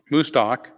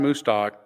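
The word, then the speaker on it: Mostaque: Ahmad mustak who predicts I keep pausing because it doesn't look like moose talk but that's how you say it I remember cows you know in the stockyard that's that's what helps me move stock move stock anyway Iman mustak uh who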